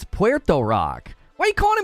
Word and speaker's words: Puerto: was it your podcast everybody kept calling him Porter Rock I'm like listen listen to me people of the internet that's not how you pronounce that word it's Puerto Puerto at least say Puerto you know Puerto